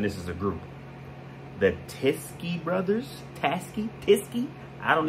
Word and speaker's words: Teskey: these brothers a chance tiske rhymes with whiskey to me huh another